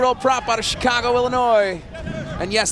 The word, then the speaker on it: Illinois: prop out of Chicago Illinois and yes the S is silent at the end of Illinois number seven going for